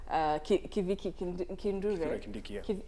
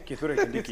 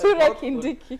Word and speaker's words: Kithure Kindiki: So what policy did Interior Minister Kiviki Kindure. Kivike Kindure, sorry. Kithure Kindiki, yes. Kithure Kindiki. Yes. I'm really, really sorry for getting his name, the CS's name wrong.